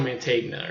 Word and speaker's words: Mantegna: like an extra a Joe man T Joe Mantegna or something like that he's in it because